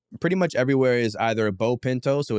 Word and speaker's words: Beau Pinto: much everywhere is either B Pinto So it's b AU like beautiful pronounced like bow tii B auau Pinto like the car the Bean or the horse so B Pinto on